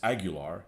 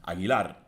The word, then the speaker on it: Aguilar: to tell people is I pronounce my name on video as agular as the correct wrong answer basically because in reality the way you pronounce my last name is Aguilar you guys can't do